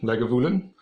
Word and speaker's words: Lagavulin: Llewellyn they got a pronounce it like a beggar villain Lagavulin or Lynn with Scottish